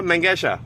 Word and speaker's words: Mengesha: officer Cooper under durus my name is MOA mesha can you spell that for m o a last name last